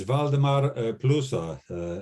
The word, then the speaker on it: Waldemar Plusa: apologize i've mispronounced your name how do i pronounce your name against her uh it's valdemar pluso it's the vladimir the name of the town